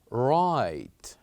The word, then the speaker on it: write: is the letter W here we said right we only pronounced r i t and E right and we kept the letter w silent now another word with